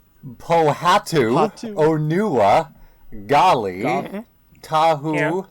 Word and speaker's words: Pohatu: going to sit down and actually try to pronounce what Radini is saying? Pohatu, Hatu. Onua, Gali, Tahu, Yeah. Lewa, and Kopak. Everything else is pretty okay, but Pohatu. It's not Lewa, it's Lewa. Pohatu. Yeah, the Pohato.